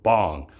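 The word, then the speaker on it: 방: I call it the Big Pang theory, a play on my last name, P-A-N-G, which in Korean is actually spelled B-A-N-G, but it's pronounced bong, and bong in Korean means a room, right?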